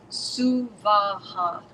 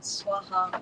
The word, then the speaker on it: Suvaha: The first line should be Om Bhur Bhuva Suvaha. 3 equal separate syllables, not Swaha or Swaha.